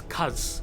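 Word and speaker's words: Khaz: look at is the first bit known as Kaz.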